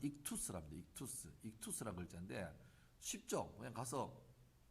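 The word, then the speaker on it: ΙΧΘΥΣ: 이게 이제 그리스 글자인데 발음은 익투스랍니다.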